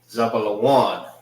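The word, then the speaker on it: זבולון: Zab one. That's how you say zealon in the Hebrew.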